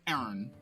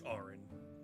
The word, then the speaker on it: Arin: And last, but only physically least, Aaron. Aaron? It's Arin. Aaron. Sorry, I know it's weirdly it's spelled weird, but yeah, it actually is pronounced. How I pronounce it is Arin.